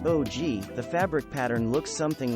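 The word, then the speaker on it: ogee: sides it's a great pattern for contemporary rooms pronounced og the fabric pattern looks something like an onion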